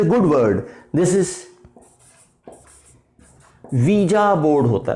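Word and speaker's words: Ouija: good word, this is visa board होता है, this is visa, इसको औजा नहीं पढ़ना है, दिस इज वीजा बोर्ड होता है।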